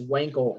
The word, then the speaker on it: Wankel: you in the chat it's w-a-n-k-e-l that's weinkel engine um so let me